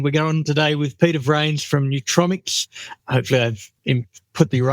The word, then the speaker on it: Vranes: We've hit the record button and we're going today with Peter Vranes from Nutromics. Hopefully I've put the right emphasis on the right syllable with that particular part of the name.